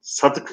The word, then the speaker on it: sadık: Sadık olsa sa, dal ve kaf belki olabilir. Fakat sadık kelimesini telaffuz ederken sa'yı uzun yani yanındaki a'yı uzun telaffuz ediyoruz.